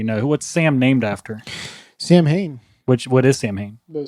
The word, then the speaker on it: Samhain: Sam Hain, which is the ancient Celtic festival of the dead from which modern day Halloween is derived. Yes. So it's actually pronounced Samhain.